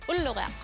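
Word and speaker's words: ulluriaq: Star is ullurak. Oh boy, do you think you could break that down for me? Yep, it's oo, oo, lu, lu, ri, ri, ak, ak, ullurak.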